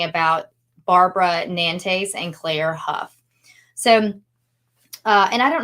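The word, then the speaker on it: Hough: name, it's pronounced like H O U G H. And so, sometimes that can be ho, like the gh is silent.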